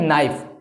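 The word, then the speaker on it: knife: बहुत सारे लोग कहेंगे यहां पर के साइलेंट है ठीक है साइलेंट है लेकिन क्यों साइलेंट है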